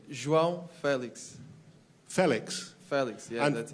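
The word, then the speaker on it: João Félix: Your name, we apparently pronounce it wrong. Could you tell us how to say your name? João Felix.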